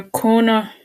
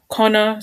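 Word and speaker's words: Conner: was inducted to the national film registry so corner connor sorry i think he pronounced the same wrong connor continued to produce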